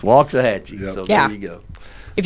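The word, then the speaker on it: Waxahachie: to say it Ed Ed's been saying it for years we're going to waxah Hatchy bro you got to say it right it's walks of Hatchy so there you go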